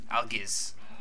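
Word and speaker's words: Algiz: this Al Al ales I always pronounce it aliz before um but the guy the rud pillman rud pillman he um pronounces it Alis so I guess we go with Alis I mean might as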